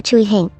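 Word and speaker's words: 巨星: 名巨星，粤语读作 Chuihin。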